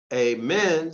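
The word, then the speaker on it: Ammon: signifying fire the being the name amun spelled a-m-m-o-n pronounced in all manner of ways through the nose through the throat but always with the eyes shut to relieve them from the dazzling of the sun's rays as amen spell a hyphen m-e-n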